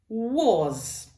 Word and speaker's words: was: Parce qu'il y a beaucoup de Français qui disent beaucoup en voyant ce mot. Normal, ils voient un A, on dit was. Non, c'est pas was. C'est comme si c'était un O ici.